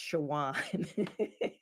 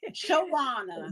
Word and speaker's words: Shawana: It's pronounced Shawan. Shawana. Yeah, but I don't get offended by So it's mispronunciation. like a S, but okay, Shawana, Shawana.